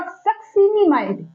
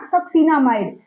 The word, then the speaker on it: succinimide: N for nitrogen, B for bromine, S फॉर सक्सिनिमाइड, नॉट सक्सिनामाइड, सक्सिनिमाइड। Spelling पे ध्यान रखना है कि आई होगा, सक्सीना नहीं है, ए नहीं है, आई है।